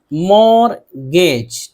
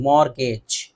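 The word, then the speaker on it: mortgage: इसी तरह मॉर्गेज, मॉर्गेज टी यहाँ पे नहीं पढ़ा जा रहा, मॉर्ट नहीं बोलेंगे, मॉर्गेज।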